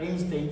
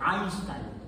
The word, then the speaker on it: Einstein: Como el diptongo EI se pronuncia AI. Por eso a don Alberto, toda la gente, bueno, mucha gente no le dice Albert Einstein, sino le dicen Albert Einstein.